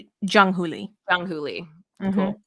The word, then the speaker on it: Jung Hoo Lee: Is his name Hung Hoo Lee? Is that how you say it? Jung Hoo Lee.